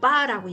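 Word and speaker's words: barre: 그걸 바레라고 원래 얘기하고요. 예. 이제 원어로 말할 때는 이제 빠라고 얘기를 하는데 우리나라에서는 바레라고 발음을 합니다.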